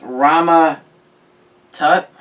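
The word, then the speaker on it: Rama-Tut: it's a fantastic four number 19 1963 as rama tut uh that's how you pronounce it and then also the first appearance of him as king is an avengers number eight 1964.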